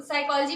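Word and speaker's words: psychology: तो साइकोलॉजी में P silent रहता है, तो हम कभी उसका मतलब उस समय प्रेजेंट टाइम में हम नहीं बता पाए मीनिंग।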